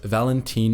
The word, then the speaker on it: Valenthyne: He’s ostentatious, he’s got horse legs, he flies around the galaxy in a starship made of wood… and his name is Valenthyne [pronounced Val-EN-theen] Farfalla, Jedi Lord and champion of the Seventh Battle of Ruusan.